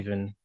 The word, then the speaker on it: Stephen: following day, in it's which, just your name pronounced differently? well, it's technically not because my name's Okay. Steven.